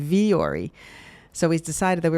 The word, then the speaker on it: Vuori: So why are we saying vori?